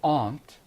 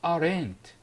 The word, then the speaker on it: aunt: ways either we say the aunt and notice it's Aunt it's not our end it's not aren't usually I hear out of students saying aren't we don't have arent in English it's Aunt the stress is on the